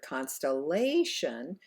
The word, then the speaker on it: constellation: me computer good and in the last word here constellation it's actually the third syllable that is stressed and therefore held out longer repeat after me constellation